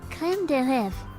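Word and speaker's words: crème: It's creème. Creme.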